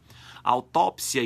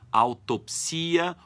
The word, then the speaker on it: autópsia: Autópsia e necrópsia significam o exame minucioso de um cadáver. Podem ser pronunciadas autópsia, autopsia ou autópse com E no final.